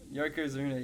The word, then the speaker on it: Yokozuna: Yokozuna, yep.